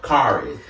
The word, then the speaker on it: Kharis: I always tell people the easiest way to pronounce my name is basically put it in a sentence. Mm-hmm. Basically, you say something like, my car is black. So, Kharis.